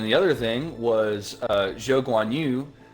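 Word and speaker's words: Zhou Guanyu: other thing was uh joe gwanyu uh yes that is the way that you correctly say his name we will not be doing it the westernized way uh unusual yeah joe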